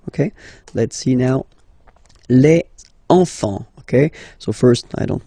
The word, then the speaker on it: enfant: Enfant. Don't pronounce the T, you don't pronounce the S.